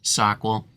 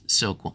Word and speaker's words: SOQL: that think uh or or believe that it's pronounced sock well and you're probably right but I'm the so